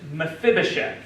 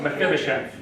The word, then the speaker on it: Mephibosheth: Mephibosheth. I like it. But Yeah, it's spelled like it sounds, basically.